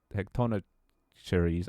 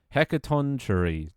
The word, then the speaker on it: Hecatoncheires: Zeus also wants revenge for Gigabyte Cronus imprisoning the Gigabyte Cyclops and the Gigabyte Hecatonocheires. I was fuck that pronunciation. Hecatoncheires.